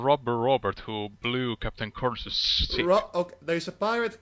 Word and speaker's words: Kurnus: I pronounce it Kurnus, but Kurnus is a fine too.